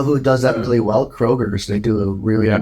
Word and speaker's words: Kroger: Kroger's? Yeah, What do you call it, dude? I call it freaking Kroger because there's no S. Kroger.